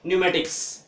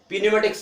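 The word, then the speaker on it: pneumatics: देखिए एन आया है, तो जब पी के बाद एन आ जाता है तो फिर पी का उच्चारण नहीं होगा, तो क्या होगा न्यूमेटिक्स। इसको क्या पढ़ेंगे, क्या पीन्यूमेटिक्स नहीं करेंगे, पीन्यूमेटिक्स नहीं करेंगे, क्या करेंगे न्यूमेटिक्स, या पेनोमेटिक्स नहीं करेंगे, क्या करेंगे न्यूमेटिक्स।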